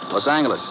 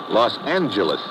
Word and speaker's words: Los Angeles: moved out to California Los Angeles correction Los Angeles oh yeah soft G it's official now so